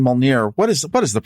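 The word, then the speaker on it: Mjölnir: Okay, and I keep saying Mjolnir. What is the right pronunciation? Mjolnir.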